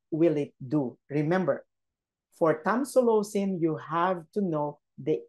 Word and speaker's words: tamsulosin: tonsilosin yeah that's how you that's how you pronounce it tamsulosin that's the social way okay so this medication